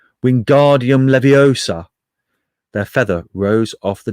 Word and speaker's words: Wingardium Leviosa: much more luck when guardium leviosa he shouted waving his long arms like a windmill you're saying it wrong how he heard hermione snap it's wingardium leviosa make the guard nice and long you do it then